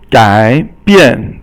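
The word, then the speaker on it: 改变: Okay, 改变. So 改 is third tone, and 变 is fourth tone, and this means to transform or convert something.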